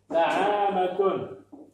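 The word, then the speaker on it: نعامة: comme ça, na, a, allez, mi, et ta, na'amatun.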